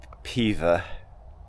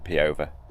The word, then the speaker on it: Peover: Peover Superior, although apparently it's pronounced Pever, even though it's spelled Peover. So I've just gone through